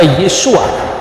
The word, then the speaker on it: Yesua: Sehingga ketika orang membaca nama Yesus, ketika dia orang Yahudi, dia pasti membaca Yesua. Yang percaya bahwa Yesus itu Mesias pasti membacanya Yesua Hamasyah.